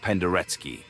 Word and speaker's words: Penderecki: Well, maybe I should mention that Pendereki, which is indeed pronounced Penderky, so watch out.